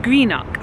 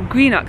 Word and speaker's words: Greenock: Actually, I think I've been saying it wrong. I've just met up with two lovely Scottish friends of mine, and they were saying Greenock, so I think I've been saying it wrong throughout this whole cruise.